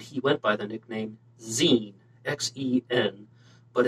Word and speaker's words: Xen: xenophon anthony and he went by the nickname zine x-e-n but it's pronounced zin so i just can't stop saying